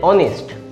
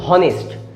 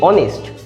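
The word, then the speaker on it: honest: সেরকম এটার ক্ষেত্রে অনেস্ট, আপনি একবার বলে দেখুন হনেস্ট, দেখবেন আপনার নিজেরই একটা অস্বস্তি লাগবে যে উচ্চারণটা হচ্ছে না ঠিকঠাক, কিন্তু অনেস্ট উচ্চারণটা ঠিকঠাক হবে।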